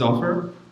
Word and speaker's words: Offer: Um, so my name is Offer. It's pronounced like an offer you can't refuse, same thing.